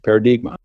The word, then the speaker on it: Paradigma: on the end and that's phonetically pronounced as a Portuguese word for Paradigm paradigma along with a paradigm